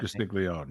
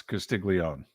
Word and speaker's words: Castiglione: I think I butchered Joe that Castiglione, yes. Castiglione, yeah. Okay, no, it's Castiglione.